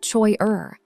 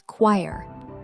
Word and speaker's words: choir: It is not choi-er. The CH makes a K sound, and the whole word rhymes with wire. It is choir.